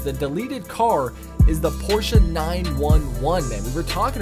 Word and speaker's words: Porsche: sorry porsa sorry porsa how do you guys say is it just Porsche or porsa man let me know down in the comment SE I'm almost certain the proper pronunciation is porsa so we're going to